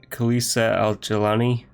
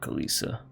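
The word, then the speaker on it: Khalisah al-Jilani: to talk to Bailey how'd you say her name Calise al-jilani it's not kaliesha and then castle Edina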